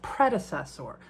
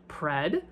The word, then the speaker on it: predecessor: It's pronounced predecessor. I even separated the pronunciations for you. Pred-a-cessor. See, it really isn't that hard when you spell it out.